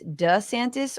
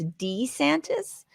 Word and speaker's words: DeSantis: One of the big things is apparently Ron DeSantis there's no clarity on how he actually pronounces his name, if it's DeSantis or if it's DeSantis. DeSantis, he said it multiple times.